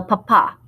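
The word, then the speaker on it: papá: do not have the accent mark on that last day papa means potato we don't want to call your dad a potato okay the next one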